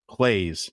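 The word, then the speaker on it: Claeys: definitely make cherry still it is Clays so but Clay is spelled c l a e y lemon drops Cherry they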